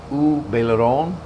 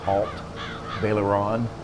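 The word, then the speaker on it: Haut-Beyleron: way, we're on the U Baileron map, U Baileron. If you try to look at it in English, it looks like Alt Baileron, but it's pronounced, it's French, it's U Baileron, means upper Baileron.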